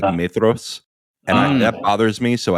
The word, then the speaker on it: Maedhros: it bothers me that the DH in Tolkien is supposed to be like the, so it's supposed to be like Maedhros, and that bothers me, so I don't do it.